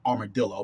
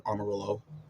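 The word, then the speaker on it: Amarillo: s Simco or SEMO or they have to pronounce Armarillo remember I used to started call I was calling it armadillo but it's really Armarillo semico Hops and they use tur row pale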